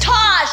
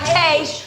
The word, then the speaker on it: Taj: Taj, not Tage. You said Tage. It's Taj. Tage.